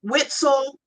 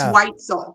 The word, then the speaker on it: Weitzel: It's pronounced Y, not we. Exactly. Yeah, we get Weitzel and Witzel, but it's Weitzel.